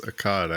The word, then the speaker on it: Akkad: If you want to put a little southern twang and say Akkad. Yeah, I think it's Akkad actually. Yeah, it is.